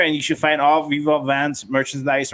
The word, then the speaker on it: Viva Van: It's closer to my actual language because in Vietnamese it's actually Vung.